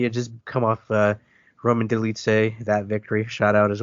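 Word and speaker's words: Dolidze: Roman, I'm not even sure how you pronounce his name. The guy that's now with Roman Delitse.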